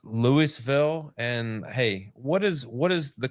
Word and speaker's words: Louisville: We pronounce it Louisville down here. It's kind of different. Everybody thinks it's Louisville, but it's Louisville.